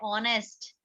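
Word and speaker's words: honest: इसलिए यहाँ पर एच कॉन्सोनेंट है, बट फिर भी इसकी आवाज कैसी आ रही है? ऑनेस्ट। एच साइलेंट है, इसलिए यहाँ पर क्या होगा?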